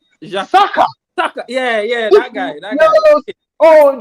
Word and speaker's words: Saka: What the guy named that comfort that does one fan thing he rhyme with him. Oh, he named Baka. Baka. Saka.